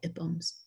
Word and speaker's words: IPUMS: on this project, and they say that's how they pronounce it, is not with a long I, but the short I, IPUMS.